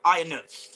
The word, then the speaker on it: Ionut: now as well it's it's pronounced like it's got an s on the end it's iron so it's iron B